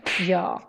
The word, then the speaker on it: jag: First, jag, is pronounced more like ja. You skip the G in the end. Ja.